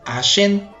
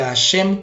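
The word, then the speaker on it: Hashem: forma adecuada ya que hay personas que dicen asen con una n al final en lugar de asem con una m al final y asen con n significa diente y aun aunque digamos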